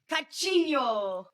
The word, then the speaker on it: Coutinho: He's a brilliant footballer, and I believe it's pronounced Coutinho. I don't know. Can I do it? Yeah. It's actually Philippe, not Felipe. It's Philippe Coutinho. Coutinho.